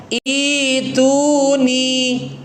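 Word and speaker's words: ائْتُونِي: Hamzah keduanya kita ganti menjadi mad, menjadi ya sukun, sehingga bacanya ituni.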